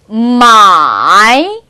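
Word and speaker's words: 买: 마이. 자, 사다, 구매하다인데요. 우리가 구매하다에서 매자라는 단어가 바로 이 글자예요. 매라는 글자가. 그러면 발음이 기억이 안 나시나요?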